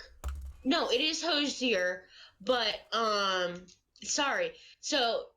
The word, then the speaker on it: Hozier: cute it's supposed to be pronounced hos yay there's some mannequins Akoo shillitoe za it's not it's cozier oh that's right no it is hozier but um sorry so it's supposed to be